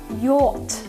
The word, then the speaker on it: yacht: Вимовляємо це слово як yacht. Yacht. Чимало літер тут не читається.